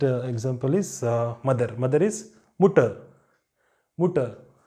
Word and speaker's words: Mutter: Mother is Mutter. Mutter. So here also R is appearing in the end, so you don't pronounce it.